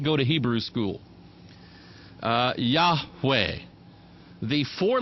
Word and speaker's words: Yahweh: You'll have to forgive my Hebrew pronunciation. I did not go to Hebrew school. Yahweh.